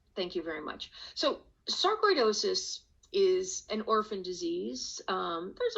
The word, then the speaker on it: sarcoidosis: You were diagnosed with a rare form of the disease, sarcoidosis.